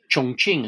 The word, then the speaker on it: Chongqing: nationalist capital was in chongqing chongqing as it's pronounced correctly way up the yangtze